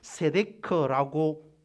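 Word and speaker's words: צדק: 이 체데크는 세데크라고 발음이 되기도 합니다.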